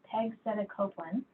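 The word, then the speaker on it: pegcetacoplan: anything then afterwards I don't know how to pronounce this very well Peg said it's Peg said a Copeland it's a small molecule inhibitor and this inhibits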